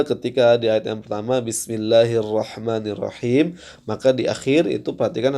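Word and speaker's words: بِسْمِ اللَّهِ الرَّحْمَٰنِ الرَّحِيمِ: disukunkan karena waqaf ya ketika dia sukun karena waqaf maka Antum harus membacanya dengan sedikit memberikan suara untuk menekankan bahwasanya ini adalah huruf mim ya bukan dengan cara memotong suara terlalu ee ee jelas karena Bismillahirrahmanirrahim m ada sedikit m-nya ya Ini untuk apa untuk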